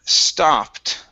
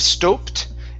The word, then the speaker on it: stopped: see here the word stopped okay instead of stoed it's ah sta stopped I stopped okay good good and your